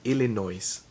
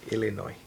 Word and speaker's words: Illinois: Most people say Illinois, but it's really Illinois. I don't know why the S is silent.